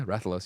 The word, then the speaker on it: Rathalos: Yeah, Rathalos.